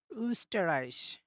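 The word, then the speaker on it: Österreich: ঠিক এরকম হবে যে আপনি যখন এটা উচ্চারণ করবেন আপনার দুইটা ঠোঁট তখন গোল হয়ে যাবে এরকম হবে আর কি অর্থাৎ যখন হচ্ছে আপনি উচ্চারণটা করবেন তখন হচ্ছে আপনার দুইটা ঠোট মাস্ট বি গোল করতে হবে যেহেতু ও হচ্ছে একটা গোল জাতীয় এজন্য আমাকে উচ্চারণটা করার সময় আমাদের দুইটা ঠোট গোল করে নিতে হবে। তাহলে দেখবেন সঠিক উচ্চারণটা হবে।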